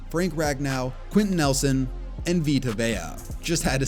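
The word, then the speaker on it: Vita Vea: Guys like Saquon Barkley, Denzel Ward, Rocoan Smith, Minka Fitzpatrick, Derwin James, Frank Ragnau, Quinton Nelson, and Vtoa. Just had to say his name correctly because I mispronounced it a few videos back.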